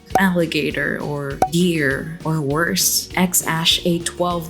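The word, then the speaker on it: X Æ A-12: them something like Alligator or Deer or worse, X-Ash A12 like that poor Elon Musk kid. And yes, that's how you pronounce that weird-ass name according to Google.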